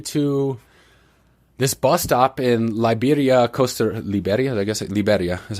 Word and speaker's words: Liberia: Anyway, last time I saw her, man, she drove me to this bus stop in Liberia is how you pronounce it. Liberia is how it'd be in English.